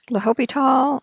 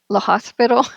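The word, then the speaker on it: L'Hôpital: for Lal all right CU it's looks like lopital okay and i' um I've had some of my students misspell it and pronounce and and everything is La Hospital okay something but it's lital right so the H stands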